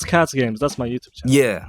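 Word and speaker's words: KacGames: sounds like it's because k a c g a m e s so that's Cats games that's my YouTube channel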